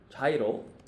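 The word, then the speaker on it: 茶色: means cha, and then one kanji on the right, which is pronounced iro. Once again, iro is color, but cha means tea. So this actually directly translated is tea color. And tea is obviously brown, right? So chairo means brown.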